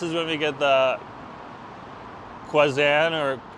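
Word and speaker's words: Kanzan: And then in late April to May, this is when we get the Kwanzan or it's pronounced Kwanzan, but it might be spelled Kazan.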